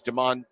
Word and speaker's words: Demas: So Nebraska this week offered a couple of junior college players, one of which is Demas. I believe it's pronounced either Demas or Demas, D-E-M-A-S.